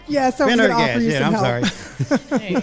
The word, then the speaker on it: Pendergast: Yeah, so Pendergast.